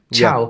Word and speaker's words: ciao: It is spelled with a C, but pronounced with a CH. Ciao.